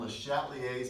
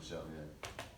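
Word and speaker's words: Le Chatelier: So I say LeChatelier. I say it like it's English, LeChatelier.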